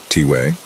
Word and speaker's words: Tway: One of them, Tway, pronounced T-way, is a medicine man in his 60s and was especially cool.